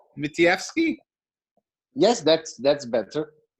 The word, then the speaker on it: Matlievski: gone over your name my guest today mitivsky mithievsky yes that's that's better it's how do you say your last name close enough okay my guess say say it one more time for me matlierski mattievsky yes okay all right let's take it